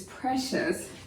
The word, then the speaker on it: precious: Do you know how many syllables are here? Precious. 2-syllable word. The P-R-E will stay together, and C-I-O-U-S, the shes, forms the suffix of the word, and so it would stay together as well.